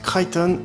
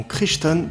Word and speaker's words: Crichton: et oui désolé mais je prononce crighton et non crichton parce que c'est comme ça que ça se prend dans son anglais et puis c'est tout roach et brinkmann se